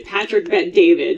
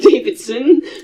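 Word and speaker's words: Patrick Bet-David: And I I think you meant David cuz he's his name is actually Patrick Bet David, not Davidson. So that's the reality.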